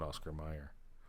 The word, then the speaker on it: Oscar Mayer: the right okay yeah yeah because you say Oscar Mayer but really Oscar Mayer but it's pronounced at Oscar Meyer okay people spell my name with the e